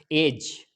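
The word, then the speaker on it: edge: अगर जी से पहले डी आए तो साइलेंट होता है। जैसे एग्जाम्पल देखते हैं, एज, एज, एज के अंदर क्या हुआ है, जी से पहले डी आया है तो साइलेंट हो गया है।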